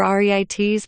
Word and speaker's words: REIT: to investors REITs real estate investment trusts or reit's pronounced REITs are companies that own and collect rent